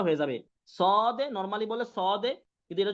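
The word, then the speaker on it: ص: normally বলছিলাম সদে সদে এখন দেখেন সদ ক্লিয়ার জি হুজুর বুঝতে পেরেছেন ওই সদ থাকবে জাস্ট কি হবে মোটা হবে নরমাল সাউন্ড হবে না একটু মোটা করে উচ্চারণ করতে হবে আর এই মোটাটা আপনাদের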